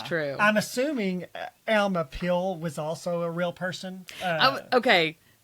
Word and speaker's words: Pihl: And I was like, is it Pill? Is it Pile? Is it File? It's Pihl. I pronounced it Pill, but who knows? That sounds good to me.